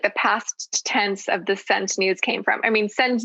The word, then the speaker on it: Sent Nudes: It's the word scent, but it's spelled S with a space and then E-N-T. So where the C would be, there is a blank space. So it's Scent Nudes.